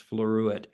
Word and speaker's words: floruit: And it's spelled exactly the way it sounds, floruit.